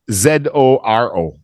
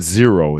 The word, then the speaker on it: Zorro: uh Mexican hero azoro z-o-r-o I think it's not not zero it's Zoro z-o-r-o if you have Google